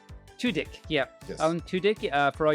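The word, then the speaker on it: Tudyk: Levy it also has Alan how do you pronounce his name Tudik Tudik yeah Alan Tudik for all you friends that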